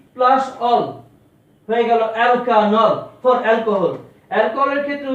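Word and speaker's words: alkanol: এই অ্যালকেনের ইটা চলে যাবে, অ্যালকেন minus E plus অল হয়ে গেল অ্যালকানল ফর অ্যালকোহল। অ্যালকোহলের ক্ষেত্রে উচ্চারণটা হবে অ্যালকানল।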